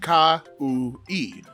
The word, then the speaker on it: Kaui: It looks daunting, but it's just Ka-u-i.